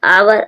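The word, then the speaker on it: hour: आवर। आवर means घंटा। H silent है।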